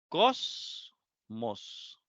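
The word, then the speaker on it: κόσμος: Cosmos. Cosmos. 2 sílabas. La mos, la última, y la cos, la penúltima.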